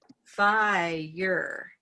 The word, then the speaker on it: fire: to get there but fire is not a one-syllable word it's going to come up really high it's got to move phi and now we're way over here and we need to get to purple that takes time fire so if i